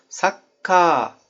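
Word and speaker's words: サッカー: O çizgi, çizgiden önceki hecenin sesli harfini uzatacaksınız demek. Mesela "Sakka-"nın sonunda "ka" var. Ka'nın a'sını uzatacaksınız. Sakkaa Uzatarak söyledim.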